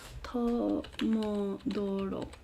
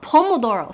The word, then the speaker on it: Pomodoro: Let me double check if I am pronouncing it correctly. Tomodoro. No. Pomodoro. Sorry, not Tomodoro. Pomodoro.